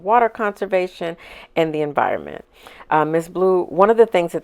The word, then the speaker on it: MS Blue: Although it's spelled MS Blue. It's pronounced Miss Blue. And when you go to their website, it's very much focused on water conservation and the environment. Miss Blue, one of the things